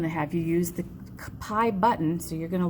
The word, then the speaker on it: pi: It's spelled P-I and it's said pi, but it's a symbol for an actual number that we use in math.